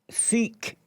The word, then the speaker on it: Sikh: So we pronounce it Sikh. Sikh means student.